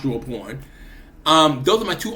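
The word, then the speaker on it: Drawnpr0: porn it's you know he's felt like d-r-a-w-n-p-r-0 and but it's pronounced through a porn um those are my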